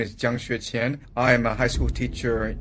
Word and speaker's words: Jiang Xueqin: And because my name is hard to pronounce, Nate could probably pronounce it, Jiang Xueqin.